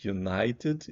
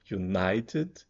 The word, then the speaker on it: United: é aberto mesmo un United Ok United e o apóstrofo tá aqui para botar o na mais forte United e tem um outro